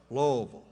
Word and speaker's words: Louisville: He didn't say Louisville. It's pronounced Louisville.